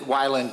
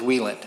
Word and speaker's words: Wieland: sure fine so and I've always pronounced it violent but it is Wieland wheel in metals okay great so I